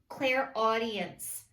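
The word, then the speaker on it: clairaudience: i am claire audient claire audience is how you say it and claire audience is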